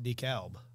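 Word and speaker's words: DeKalb: so they pronounced it Decalb so the L was there yeah I moved South and everyone's going de cab and I'm thinking wait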